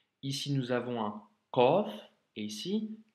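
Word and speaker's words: قاف: lettre Qaf, qui est une lettre emphatique, qui doit remplir la bouche quand tu la prononces et qu'il ne faut surtout pas confondre avec le Kef. Ici, nous avons un Qaf et ici Kef.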